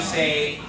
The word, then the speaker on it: es: makes an E sound, so that word's going to be V. That means how. Everybody say it? V. The next word is gate. Everybody say it? Gate. The next word, S. S.